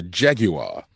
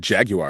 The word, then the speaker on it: Jaguar: me a commercial with Jaguar, so I said Jaguar, and she's like, "Don't say it like that. Say Jaguar." I'm like, why? It's Jaguar. Like it's Jaguar. That's how they say Jaguar.